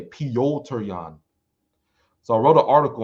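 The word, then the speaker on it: Petr Yan: let's move on to the next fight uh peter young well i said peter uh alderman sterling versus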